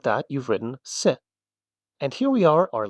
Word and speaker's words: せ: This is se. It's pronounced se, just like when you say something, it's a bit more boxy than the others, right?